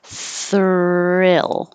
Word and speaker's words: thrill: penguin penguin thrill so the thr combination can be very tricky because you have to move your tongue from um fur pull it down and back so the tongue has room to curl back thrill and then back up for the l thrill thrill thrill and